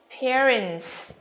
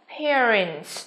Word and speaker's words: parents: Again, A, parents.